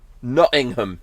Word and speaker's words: Nottingham: It's Nottingham. Nottingham. Yeah. Yeah, Nottingham. That's how you say it. Trust me. That's the best British accent you're gonna get from me today.